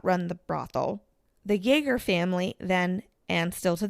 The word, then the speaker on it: Jaeger: it's pronounced Jaeger.